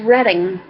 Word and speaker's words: Reading: though she explained that it was pronounced redding we got out the